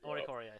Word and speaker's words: Oricorio: How do you say that? Oricorio? Oricorio. There we go.